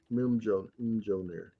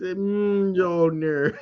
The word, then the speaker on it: Mjolnir: Mim Jolnir.